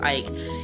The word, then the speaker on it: Eich: co-founder of maela Brandon Ike or Brendan I think his name is pronounced Ike and you know the